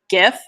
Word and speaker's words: GIF: I have a GIF. Yep, I said it, Caitlin. There's the GIF. She's my team hard G.